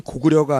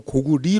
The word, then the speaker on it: 고구려: 한자가 전에 나와 있듯이 나라이름 일 경우에는 고구려가 아니고 고구리 로 발음이 돼야 됩니다 이 고구려는 한사군의 하나인